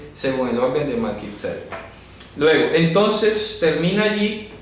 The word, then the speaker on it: Melquisedec: Melquisedec, no se dice Melquisedec, sino Melquisedec, tilde en la primera E, para que lo pronuncien correctamente.